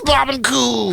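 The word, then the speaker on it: Barbancourt: there and uh I learned that I was pronouncing it wrong all these years it is Bob and cou how did you know my favorite too yes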